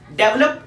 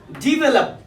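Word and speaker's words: develop: Fifth word पर, fifth word देखिए, डेवलप, विकास करना। इसकी प्रोनाउंसिएशन क्या है? डिवेलप, डिवेलप, डिवेलप। डेवलप नहीं, डिवेलप, डिवेलप।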